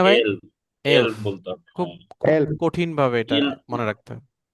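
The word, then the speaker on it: elf: peer উন Jack জিভেন আট নয়েন সেন ইল এল এল না এল এটা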